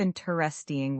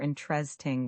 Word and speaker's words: interesting: Instead of interesting with four syllables, we often say I interesting or interesting with three.